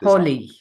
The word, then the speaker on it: Holi: Is it Holly or is it Holy? How do you pronounce this? Holy. Holy.